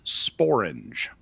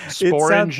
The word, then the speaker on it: sporange: One of them is sporange.